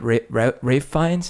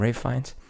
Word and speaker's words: Ralph Fiennes: The way that Ralph Fiennes, is that how you say his name? Ralph Fiennes? Even though it's spelled like Ralph? Yeah. Yeah, Ralph Fiennes.